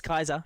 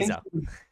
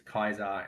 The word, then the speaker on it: Caesar: history, the anglicized English language has become that we just have hard C's and soft C's, whereas the original pronunciation is Kaiser, and then also the V's are soft as well.